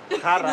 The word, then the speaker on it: jara: Jara, porque es una J suave, es J.